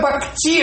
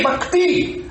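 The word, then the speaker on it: भक्ति: a palavra sânsica assim, ele falava é bacti. Ele fala não é bacti, é bacti. Eu não consegui entender a nuança de um tatal e um t e um t dental.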